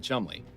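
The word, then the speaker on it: Cholmondeley: Borough of Cholamendale. Probably not how it's pronounced. Thank you. Keep the change. Cholomendy? And so, our night of excitement begins. You more than anyone else should know that there's rarely a dull night in Chumley.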